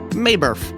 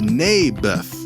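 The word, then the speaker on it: Naboth: that's what i said mayberff i think you're saying it wrong his name was neybeth ah bless you never mind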